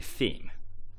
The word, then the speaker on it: theme: should be theme but I've actually heard so many my own students um say t um when they speak English tema is Japanese this should be theme.